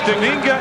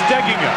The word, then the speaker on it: Steigenga: The accent on the pronunciation that most people use is on the second syllable, but Matt says it should be on the first syllable.